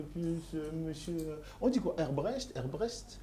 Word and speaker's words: Hebbrecht: Herbrecht? Alors il y a plusieurs prononciations. Dites Hebrec, c'est beaucoup plus simple. Hebrec. Voilà, Hebrec, c'est très bien.